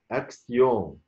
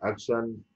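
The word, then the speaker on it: action: اكسيون، مش اكسن، لا مش اكشن، لا اكسيون.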